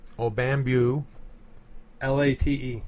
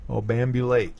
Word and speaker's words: obambulate: Now, would you like me to spell it, though? Yeah, go ahead. It's O-B-A-M-B-U... Obambu. L-A-T-E. Obambulate.